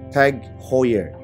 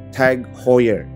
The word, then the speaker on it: Tag Heuer: Gue sering dengar beberapa orang menyebutnya beda-beda. Ada yang bilang Tag Heuer, ada yang bilang Tag Heuer, ada juga sesimpel bilang Tag doang. Dan ternyata cara baca yang benar adalah Tag Heuer. Gue ulang, Tag Heuer.